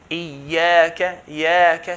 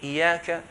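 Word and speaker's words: إياك: If you have a fatha, Iyyaka, so it's very clear. Iyyaka, here there's a shadda. If we drop the shadda and we only pronounce 1 ya and say Iyyaka, then the meaning would change.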